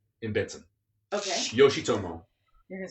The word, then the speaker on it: Yoshitomo: The best sushi place in town is Yoshitomo in Benson. Okay. Yoshitomo. You're gonna spell? Is it? I can spell it for you. Yoshi, like Yoshi the. Yeah, like the little guy.